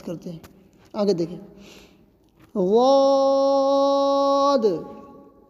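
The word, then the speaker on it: ضاد: غاد. اس کا ادا کرنا بہت ہی کٹھن ہے. بس اتنا سمجھیں کہ غاد جو ہے زبان کا کنارہ اور چبانے والی جو دانت ہے اس کے پاس سے لے جا کر بولیں گے.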